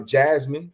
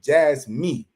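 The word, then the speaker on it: Jasmy: some of that uh Jasmine you know I have I keep pronouncing it wrong JZ me me JZ me right me you know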